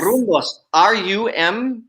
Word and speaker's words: Rumbos: Rumbos.